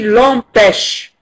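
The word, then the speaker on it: empêchent: Et en français, on ne prononce pas le ENT final du verbe. Il est prononcé E. Donc on dit l'empêche.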